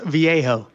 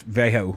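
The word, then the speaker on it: Vallejo: it again boris what boris viejo yeah in kentucky would say vego but either way um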